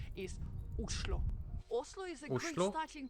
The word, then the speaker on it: Oslo: actually in Norwegian and the right way to pronounce the name of the capital islo Oslo is a great